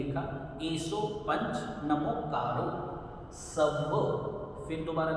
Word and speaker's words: एसो: इसका भी प्रोनाउंसिएशन देखिए, एसो, ऐसो नहीं बोलना, पिछली वीडियो में भी हमने डिस्कस किया था। ऐसो प्रोनाउंसिएशन इसका गलत है, इसे बोलना है एसो।